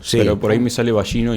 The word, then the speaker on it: Vallino: Espera, en la eventual eventual eh este Ballino, no digo bien el apellido. Sí, en realidad sí se podría decir de las dos maneras, pero creo que bien dicho está dicho balino.